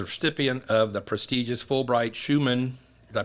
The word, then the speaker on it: Schuman: Avent is retiring from the presidency of Florida Polytechnic and is a recipient of the prestigious Fulbright Schumann, did I pronounce that correct?